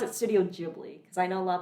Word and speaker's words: Ghibli: And like some of the Studio Ghibli films, you already feel like you're kind of high just Yeah.